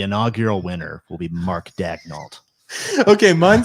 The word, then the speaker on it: Dagnall: need to pronounce his name correctly. Dagnall. There you go. He needs to. He needs My- to. He needs to, My Thunderbolt prediction. Huh? he needs to. Dagnall.